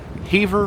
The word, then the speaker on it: Havre: air break here at Havre, Montana. Now, I was going to say Havre. I looked it up. I thought it was Havre, but someone on the train informed me it is pronounced Havre.